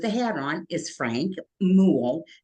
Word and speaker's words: Muhl: One with the hat on is Frank Muhl, rhymes with pool.